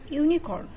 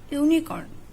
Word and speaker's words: unicorn: here is the word unicorn it's pronounced as unicorn then the first letter is U but we pronounce as you so there will be